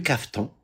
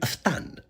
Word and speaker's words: aftan: on prononce le terme kaftan, on le prononce de la manière suivante, الافطان. Donc on ne parle pas du kaftan, on parle du aftan.